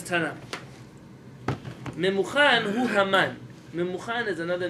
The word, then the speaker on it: Haman: Haman. That reminds me. That rhymes with stamen.